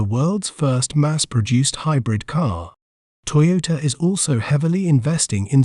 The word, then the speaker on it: Toyota: We may pronounce it as Toyota, Toyota, Toy, O, Ta, Toyota. An interesting fact about Toyota is that it is a pioneer in hybrid technology.